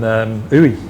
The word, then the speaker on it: Uidh: I think Uy is how you pronounce it.